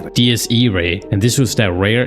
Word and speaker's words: Diés Iraé: And well, after watching the movie, I found out that it's pronounced DS. DS Ray.